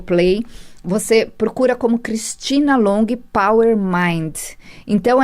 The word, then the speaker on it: Longhi: Você procura como Cristina Long Power Mind. Então, é assim, procura Cristina Long, que com certeza você vai achar meu aplicativo. Lembrando que Long se escreve L-O-N-G-H-I.